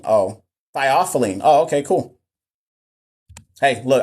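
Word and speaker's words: theophylline: specific range I'll be completely honest it's it's pronounced the awful in oh thyophylline oh okay cool hey look I already said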